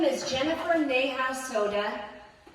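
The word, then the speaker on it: Sodha: My name is Jennifer Neha Soda. It does sound like the beverage, but it's spelled differently.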